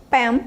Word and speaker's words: pen: Pen, caneta, pen pode ser curral. E falem assim, bem curtinho, pen, pen, tá? Não acrescentem vogal aí onde não tem.